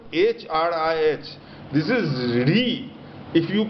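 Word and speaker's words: hrīḥ: syllable hrih this is re if you pronounce it h r i h is pronounced as re so in late dhana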